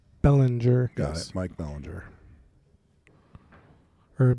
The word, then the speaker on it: Belanger: So you pronounce the last name Belanger. Belanger. Got it. Mike Belanger. Or Belanger, I guess. I got to emphasize the A a little more.